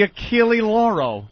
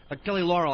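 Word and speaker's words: Achille Lauro: the Y is silent it's the achil lauro I've been saying it wrong what you that you have achil Laurel I thought it was Laurel I like the achil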